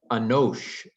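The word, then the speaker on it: אֱנוֹשׁ: is but anyway um in hebrew again anosh is the word for man but hebrews done the canaanite shift and the uh long a has become a long o um but in aramaic it's still a nosh man okay so chaldeans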